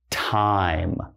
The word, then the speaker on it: time: But if we go ahead and if we put silent E there, that means now, time, okay?